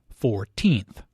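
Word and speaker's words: fourteenth: The stress is on the second syllable, 14th.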